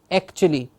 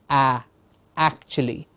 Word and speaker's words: actually: time what happens is some students will mispronounce it to say actually a and that's when you'd have to correct them saying no your mouth is not to open open their jaw to say ah actually yes sometimes I tell them